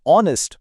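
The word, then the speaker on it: honest: यहां लफ्ज ऑनेस्ट में एच की आवाज नहीं आती, आवाज शुरू होती है आ से, और आ एक वाउल साउंड है, तो जाहिर है सही जवाब होगा एन।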